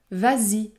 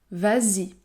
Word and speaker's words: vas-y: qui suit par exemple vas-y vas-y le S se prononce Z Z vas-y ou encore prends en